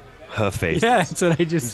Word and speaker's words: Hephaestus: Can you pronounce my name correctly? It's Hephaestus. Hephaestus.